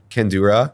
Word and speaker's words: kandura: attire choices and uh how do you pronounce that again Cura kandura yeah is there an A or an O at the end a a so kandura you know these waves